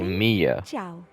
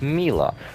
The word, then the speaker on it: Milla: bother they just say mia as if she has a y in her name but she doesn't have a y in her name she gets two l's so it's mila also to yesterday was